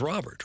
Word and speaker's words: Robert: It seems like it should be Roar, but it's Robert, right? It's Luis Robert. Doug, I like to honor the home country and speak it their language. Yeah, I think for I was pronouncing it Roar and now I hear is Robert Jr. Rober would be French. He's clearly not French.